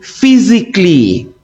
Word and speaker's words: physically: The letter A is silent in the following words. We say logically, not logically. We say chemically, okay? We say physically. The A is completely silent.